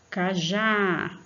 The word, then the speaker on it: cajá: Cajá, já, o A com som aberto por causa do acento agudo. E a sílaba forte é já.